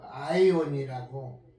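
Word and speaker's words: αἰών: 영생을 헬라어로 아이온이라고 발음하는데, 아이온, 그 의미는 영어로 ing, 진행형이라는 거예요.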